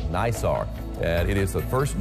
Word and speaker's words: NISAR: Are we am I pronouncing it right? Uh is it NISAR?